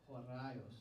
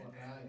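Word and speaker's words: ὡραῖος: So for example, this term, which is hard to pronounce, how do we pronounce that? Horaios. Oh, thank you. Okay, that's helpful. Want to hear it again? Horaios.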